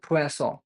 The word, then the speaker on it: Poisson: वन पढ़ रहा था मैं भी पोइजनों बोलता था पर अब मुझे पता पड़ा कि इसकी प्रोनंसिएशन होती है फसों ठीक है थोड़ा अजीब लगता है बोलने में पर एक्चुअल प्रोनाउंसिएशन यही है फसों तो हम फसों ही बोलेंगे सही बोलेंगे ठीक है ओके फ्रेंच वर्ड है ना तो अलग है स्पेलिंग से फसों ओके तो पोएस ऑो